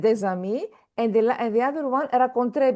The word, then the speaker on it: rencontré: And the other one, rencontré, because you see here the accent. Yeah. Ils ont rencontré. So this shows that we need to pronounce it.